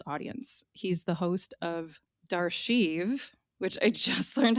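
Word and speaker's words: D'Archive: He's the host of Darchive, which I just learned how to pronounce. It is d apostrophe archive, pronounced Darchive.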